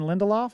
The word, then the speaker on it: Lindelof: However, there was a story about Damon Lindelof.